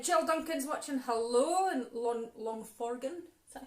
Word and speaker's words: Longforgan: Hello in Longforgan. Is that how you say it? Yep. Longforgan.